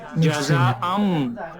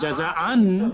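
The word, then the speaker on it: جزاءً من: মানে অসমানটা হবে গুণ ইয়ে হবে অসমানটা রাইট, অসমানটা হবে নুনটা উচ্চারণ হবে না, তাহলে এই অসমানটা মিমের সাথে মিক্স হয়ে যাবে। জাজা আম, জাজা আম মির রাব্বিকা, আমি যদি বলি জাজা আন তাহলে ভুল হবে।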